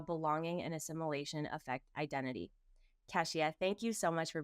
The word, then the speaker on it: Keshia: Cesia, thank you so much for being here.